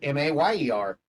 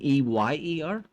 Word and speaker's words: Mayer: It's Mayer. Apparently, back in the day, people used to say it was Meyer. No, it's Mayer.